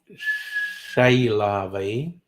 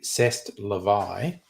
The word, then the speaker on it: c'est la vie: But you know, Chez la vie, or if we were going to pronounce it as the French do, c'est la vie.